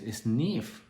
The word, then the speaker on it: SNF: don't know about this sniff is um the the way we pronounce snf which is the abbreviation for skill nursing facility and as a resident